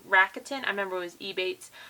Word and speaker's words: Rakuten: This week we have a little bit extra because I did have a I'm going to say it wrong, Rakuten.